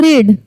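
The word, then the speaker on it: read: The story is अब रीड। रीड का वी3 यूज़ करना है। The story is रीड। तो वी थ्री क्या होता है? रीड ही होता है। उसे बस प्रोनाउंस डिफरेंट प्रोनाउंसिएशंस का डिफरेंट है।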